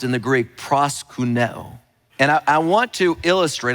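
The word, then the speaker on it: προσκυνέω: men were doing is a word that is pronounced in the Greek, proskuneo.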